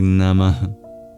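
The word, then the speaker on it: namaḥ: And then at the end of namaha, there's an H with a dot under it. That's the visarga, an expulsion of breath. It's kind of like an exhale.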